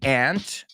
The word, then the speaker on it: aunt: the word ant is you can say aunt or Aunt you see a pattern here so let's pronounce it both ways my aunt has an ant farm but some people everybody says it how they want as long as it's like an accepted one and they both are